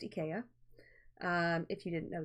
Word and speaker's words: IKEA: from eaya and or Ikea but you know that's that's pronounced Ika um if you didn't